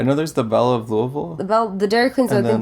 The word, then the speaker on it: Louisville: from Louisville Kentucky yeah Louisville that's how you pronounce it alright Louisville not on this Louisville Louisville Louisville like you have like rocks in your mouth or something yeah that's up you